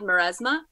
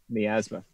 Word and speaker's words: miasma: get to hear it the play is called Mauresmo did I pronounce that right miasma miasma okay his code miasma it's basically kind